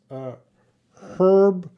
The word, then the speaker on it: herb: I have a star besides herb because some people say herb and some people say herb. And I think Americans say herb.